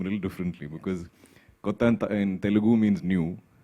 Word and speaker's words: Kotha: King of Kotha and not the usual Hindi pronunciation. So it's in the film Kotha, in Malayalam it's Kotha.